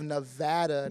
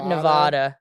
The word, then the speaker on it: Nevada: Oh my goodness. I I have corrected board of trustees members, chancellors on how to say it properly. Everyone's like, "Oh, like Las Vegas, Nevada." I'm like, "Nope, Reno, Nevada."